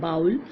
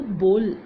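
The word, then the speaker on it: bowl: बहुत सारे इसको प्रोनाउंस करते हैं बाउल, बट इसको बोल कहते हैं।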